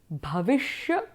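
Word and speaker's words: भविष्य: we call it the bhavishya kaala so the sha is the tongue rolled up and it's the cerebral and in technical terms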